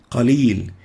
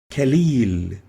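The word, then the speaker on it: قليل: it with a calf an example is kalil meaning a little they would pronounce it as khalil meaning weak the meaning has changed totally by replacing the cough with a calf and this is wrong we should say also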